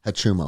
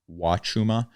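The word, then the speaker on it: Huachuma: Hachuma. That's how I pronounce it. It may be Wachuma, but that is the cactus San Pedro.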